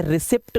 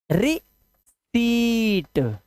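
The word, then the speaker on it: receipt: है ना रिसी प्लीज इसे रिसीप्ट कोई भी ना पढ़े ये गलत लिखा है आधा पा ये होता ही नहीं है इसका प्रोनंसिएशन है रि सट इसका पा ये जो पी है ना ये साइलेंट होता है ध्यान रखना रिसी इसे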